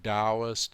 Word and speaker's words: Taoist: Things that are spelled with a T, like Taoist and Dantian, are pronounced D most of the time.